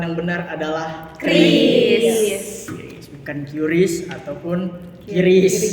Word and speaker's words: QRIS: awal-awalnya munculnya Kris ini emang banyak banget yang ngebaca tuh bacanya tuh Q Ris karena dia emang pakai Kanika jadi banyak yang salah dari situ sih tapi sebenarnya ini juga dikonfirmasi ya sama pihak adminnya itu eh pelafalan yang benar itu sebenarnya Kris guys guys bisa dicatat